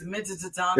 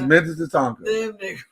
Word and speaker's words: Minnetonka: People have been pronouncing it wrong for years. It's Minnetonka. It's Minnetonka.